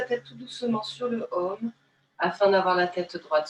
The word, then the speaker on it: Om: Dans cette ouverture, nous allons chanter le Om, qui est le son universel qui s'écrit A-U-M.